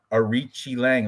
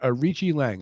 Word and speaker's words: Arichi Lang: okay, so me and Manny, we're on Arichi Lang. That's how you say it, Bigfoot. The Q is Okay. pronounced like CH. Try it out one time. Try it out. Now that you heard it, Arichi Lang.